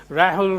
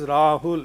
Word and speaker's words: Rahul: If an Englishman has to pronounce this word, he might say Rahul Rathod. You will tell him 10 times. No, it is Rahul. He will say Rahul.